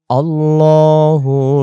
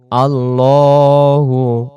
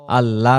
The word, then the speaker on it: আল্লাহু: আল্লাহু লা ইলাহা ইল্লা হুয়া। আল্লাহু লা ইলাহা ইল্লা হুয়া। আল্লাহু, আল্লাহ না, আল্লাহু। আল্লাহ শব্দের ডান দিকে জবর থাকলে আল্লাহ শব্দের লামটাকে তখন লাম